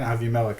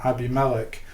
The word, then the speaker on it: Abimelech: chapter 26 um so avi melek called isaac and said i'm saying avimalic it's the hebrew pronunciation abimelech the king the philistine